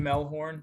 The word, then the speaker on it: Mehlhorn: gsu.edu um my Twitter and Instagram are JD melhorn melhorn spelled the same way um and you can